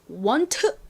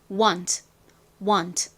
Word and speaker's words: want: T를 너무 세게 want 이렇게 발음하지 마시고 쓱 바람 빠진 소리, 아주 소리가 아주 작게 잦아들어요. 그래서 want 이렇게 발음해 주시면 됩니다.